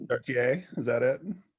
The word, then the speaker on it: Chartier: Anything's good. The French way is fine. Chartier, is that it? Okay, Chartier, yeah.